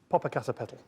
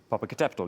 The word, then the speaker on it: Popocatépetl: Popocatépetl. Popocatépetl, yes, right, good.